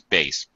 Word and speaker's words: bass: There is a word bass, but when you refer to music, it's bass.